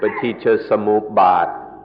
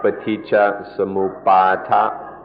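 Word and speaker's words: paṭicca samuppāda: The word is paticca samuppada. Paticca samuppada. In Thai, the pronunciation is a little shorter, paticca samuppada. But in the Pali, it's more like paticca samuppada.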